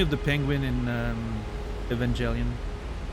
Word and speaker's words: Evangelion: Reminds me of the penguin in um Evangelion. Evangelion. I never know if it's a soft or hard G.